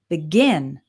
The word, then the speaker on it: begin: And when we have two-syllable verbs, we usually stress the second syllable. So we have relax, begin, delete, arrive.